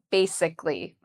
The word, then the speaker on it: basically: So how do we pronounce basically? So I've written it out here, how I would say it. Bay is the first part, and that's where the stress is. So we say bay louder and longer.